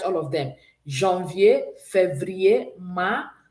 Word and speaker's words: mars: March is pronounced ma.